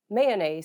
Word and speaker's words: Mayones: am indeed yes um you just say may mayonnaise there you go but then again you can also say mayonnaise because I know this is the kind of